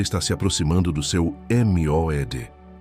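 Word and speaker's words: מועד: Pronuncia comigo em voz baixa: Moed.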